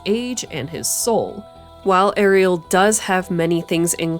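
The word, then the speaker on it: Eriol: unsurprisingly that reincarnation also his name is apparently pronounced ariel and not aryl like i thought literally my entire life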